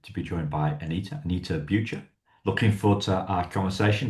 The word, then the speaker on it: Anita Bucher: Anita Bucha. Looking forward to our conversation. Did I get the pronunciation about right?